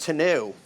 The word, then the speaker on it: tonneau: well we've got the tonneau cover finished up and I think Mark is just about done with the toolbox too I am finished it's pronounced to new oh right what do